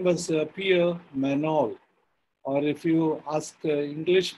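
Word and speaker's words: Pierre Magnol: france his name was pierre manol or if you ask english pronunciation it is peter magnol in french g is silent and means peter in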